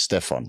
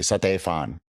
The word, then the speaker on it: Stefan: my real name is Stefan and last name just let's leave that open um when I moved to Thailand nobody could pronounce Stefan they would say San which made my ears bleed honestly so I I